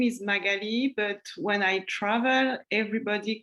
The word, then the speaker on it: Magali: me like um saying my name is magali and everybody will be like oh margaret or magdalena no that's not the same so yeah when i